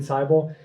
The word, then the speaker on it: Seibel: My name is David Seibel, and my last name rhymes with Bible.